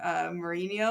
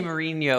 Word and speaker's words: Mourinho: It's a Portuguese name, Mourinho. Oh, Jose Mourinho or something like that.